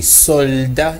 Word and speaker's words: soldat: Donc le mot c'est soldat, il y a un L au milieu et le L doit être ressenti.